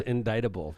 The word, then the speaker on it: indictable: Northwest Indiana she would know the actual pron pronunciation is indictable say silent c congresswoman very ni we love